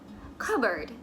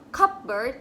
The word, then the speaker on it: cupboard: Cupboard. Bukan cupboard, tapi cupboard.